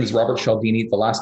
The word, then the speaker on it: Cialdini: is called influence um his name is robert chaldini the last name is spelled c-i-a-l-d-i-n-i um it's a really really interesting